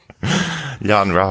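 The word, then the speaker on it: Yon-Rogg: that we're still in I do feel that yon Rog well it does it rhymes with eggnog Yan ra yes Jude Law returning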